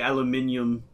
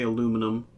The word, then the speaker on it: aluminium: pronunciation you know uh we say aluminium americans say aluminum uh we say herb